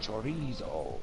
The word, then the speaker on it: chorizo: So when I went to a deli and was like, oh, it's pronounced chorizo.